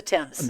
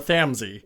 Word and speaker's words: Thames: No, that's the Thames. No, I know. That was me mispronouncing that one. The Thamesy.